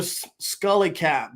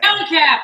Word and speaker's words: Scally cap: Love your Scully cap, by the way. Scally cap. That's a Scally cap. Scally cap. I said it wrong.